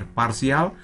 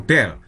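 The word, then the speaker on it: ∂: Nah, pelafalannya bisa daba, bisa delta Jacobi, bisa parsial, bisa de, doh, atau del. Cuma saya lebih sreg kalau saya baca del ini ya.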